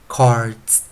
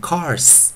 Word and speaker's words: cards: 首音 onset C， C k k k cards cards，不 cards，不是念 cars，是 cards cards cards cards。